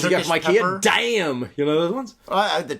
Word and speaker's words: Daim: But it's spelled, the name of the candy is DAIM. So I'm sorry in Swedish it's like damn or something like that, right? Damn, it tastes good.